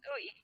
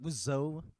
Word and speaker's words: WSOE: How do they pronounce the WSOE lang? WSOE. Yun na. Not Wuzo.